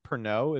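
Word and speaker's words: Pernod: weird craving and got I think it's pronounced pernot it's spelled Bernard but it's yeah it's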